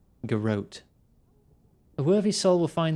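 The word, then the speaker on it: Garrote: to the steel garot I always thought it pronounced Gat but everyone here is saying garot a worthy soul will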